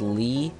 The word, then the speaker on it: Lie: I named him lie it's actually pronounced Lee not lie I know this is